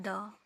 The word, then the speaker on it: the: तो द को कब दी और कब द प्रोनाउंस करना है, इसका रूल भी सेम ए और एन की तरह है। अगर आप द के बाद आने वाले वर्ड्स का sound A ई आई ओ यू सुनते हैं, तो या फिर हिंदी